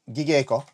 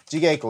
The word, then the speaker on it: jigeiko: We started doing some light gigeiko. There's no hard, there's no soft G in Japanese, it's a J, jigeiko with them.